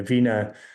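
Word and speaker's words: veena: And she usually is holding this vena, and the vena, written V-I-N-A in English, but often written differently, V-E-E-N-A. Priyank tells me it's pronounced the same.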